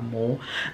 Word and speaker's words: MOR: I'm pretty sure that's how you say it, M-O-R, Moore.